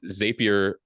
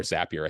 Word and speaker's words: Zapier: smart with it yeah zapier or zapier I think it's meant to sound like happier but as a zap no one knows how it's pronounced that's the secret um it's